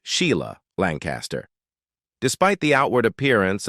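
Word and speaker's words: Sighle: James Lancaster, Susan Lancaster, Joanna Lancaster, who went on to work as a film producer, and Sigel, pronounced Sheila Lancaster.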